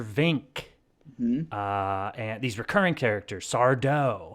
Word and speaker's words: Sardo: And these recurring characters, Sardo. Accent on the Mister, dough. Yeah. Accent on the dough.